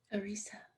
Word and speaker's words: Arisa: so happy to be talking with the poet erisa arisa oh my god after reading that part in your book about pronouncing your name it's still it still didn't